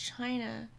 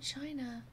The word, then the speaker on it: Chine: Pronounced China, but spelled with an E. Ah, China.